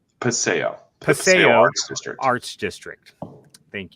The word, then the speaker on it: Paseo: print shop in how do you say that passio paseo arts district arts district thank you for the